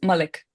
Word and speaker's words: Malik: It's Malik.